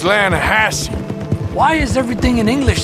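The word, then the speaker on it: Lannahechee: some beautiful steelhead trout you mean the lanahashi river no no no no no the the lana hatchy it runs right near here yeah but it's pronounced landhassy why is everything in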